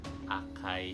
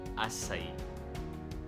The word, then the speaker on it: Açaí: It is read as letter S, like S. It's not acai or acai. It should be Açaí. Açaí. So it has an accent mark at the letter I, the last syllable.